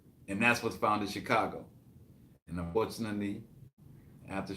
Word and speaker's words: Chicago: his family up the Mississippi in Chicago at Chicago that's how you pronounce it a Chicago yes I'm a CH